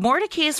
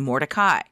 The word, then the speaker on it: Mordecai: The Mordecais were an Orthodox Jewish family and originally pronounced their last name Mordecai. After moving to Raleigh, the family changed the pronunciation to Mordecai.